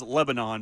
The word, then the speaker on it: Lebanon: Cheyenne still says Lebanon, by the way.